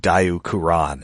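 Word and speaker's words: Diaclone: And of course, I mean, you uh we know what Dau Kuran is a reference to. Yes. Uh for the uninitiated that was the that is the uh Japanese pronunciation of Diaone which was one of the series that uh seated transformers.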